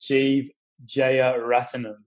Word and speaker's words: Jeev Jeyaretnam: His name is Jeev Jeyaretnam. How are you, mate? Very good. Very good effort, yeah. as it's phonetically as it's written, so yeah, very good.